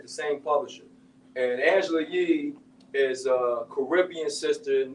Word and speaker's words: Yee: Oh, Angela Yee.